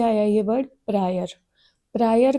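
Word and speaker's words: a priori: अब इसको बच्चे आपने अप्राइरी नहीं बोलना है। मैंने जानबूझ के गलत बोला है। यहां पे दोनों केसेस में जनरली ए साइलेंट होता है। Fine. It इज़ प्रायरी analysis and पोस्टीयररी analysis.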